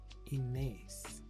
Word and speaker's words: Ines: I think she said it's pronounced Ines. Like A-Y-Z.